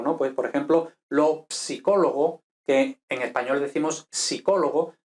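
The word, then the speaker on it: psicologo: Pues, por ejemplo, lo psicólogo, que en español decimos psicólogo, pero en italiano se pronuncia la P también. Entonces, lo psicólogo, o, por ejemplo, pues no sé, ahora mismo, ¿no?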